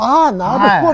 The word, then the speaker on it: わんばんこ: 「こんばんは」ですが、「わんばんこ」と発音します。